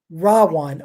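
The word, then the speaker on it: Ravana: bad guy and his name his name is rawan r v in sanskrit is pronounced as a w r-a-b-a-n-a one silent day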